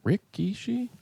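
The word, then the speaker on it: Rikishi: It's spelled Rick. Rickishi.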